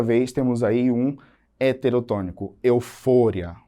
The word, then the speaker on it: euforia: Eufória. No português, eu digo euforia.